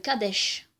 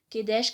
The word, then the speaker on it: Kadesh: C'est une ville, elle s'appelle Kadesh. Kedesh, Kadesh, parce qu'il faut savoir que les voyelles en hébreu, elles varient, en fait. Hein. Les prononciations varient. Et avec l'arabe aussi, hein, ça varie.